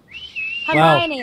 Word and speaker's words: Hermione: You said it right. Well done. I did? Hermione, like in Harry Potter.